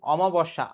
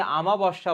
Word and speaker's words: অমাবস্যা: কাঁদো নদী কাঁদো, উজানে মৃত্যু, চাঁদের অমাবস্যা, অনেকে আমাবস্যা বলে, সঠিক বানানটা অমা হবে।